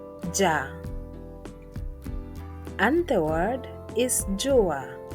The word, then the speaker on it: jua: The next letter is pronounced as ja, ja, and the word is jua, jua, sun in English.